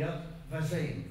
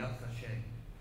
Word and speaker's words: Yad Vashem: Yeah, it's called the Yad Vashem. Vashem. That's really the proper pronunciation. The Yad Vashem.